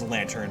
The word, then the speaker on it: lanthorn: I think it's just pronounced lantern, but still.